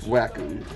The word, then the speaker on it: Wacom: Blue Fox says it's actually pronounced Wacom.